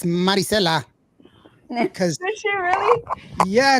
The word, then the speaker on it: Marisela: I have to pronounce her name Marisela. Yes. Marisela. Because when I first interviewed her at the very first time that I interviewed her, her mom was like, "It's Marisela."